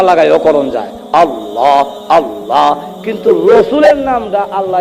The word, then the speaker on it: আল্লাহ: আবার উচ্চারণ করতে গেলে আল্লাহ। উচ্চারণ করতে গেলে ঠুট না লাগাইয়াও করন যায়। আল্লাহ আল্লাহ কিন্তু রসুলের নামটা আল্লাহ এমন রাখা রাখছে